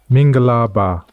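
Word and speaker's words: မင်္ဂလာပါ: say hello and that word in Burmese is mingalaba so that's all for today and thanks for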